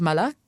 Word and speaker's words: Malak: My name is Malak, and it's just like Malak, not Malak.